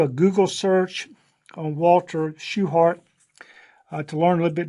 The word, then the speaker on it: Shewhart: Walter Shewhart, even though his name looks like it should be pronounced Shewart, I think the family preferred to have the last name pronounced just as if there was an E in there.